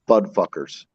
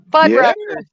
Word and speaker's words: Fuddruckers: Okay, I know I'm saying it wrong, but I'm saying it wrong for a reason. Have you ever had a burger at Budfuckers? Yeah, they used to be right here, based in Atlanta. What? Okay. Fuddruckers.